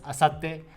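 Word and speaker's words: 明後日: means day after tomorrow the kanji is very similar to ashta but in the middle there is a kanji which is go o ato which means after so overall it's read as asate and it means day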